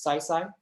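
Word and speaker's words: 西西: done by cc or i'll pronounce her name in cantonese which is saisai uh in in one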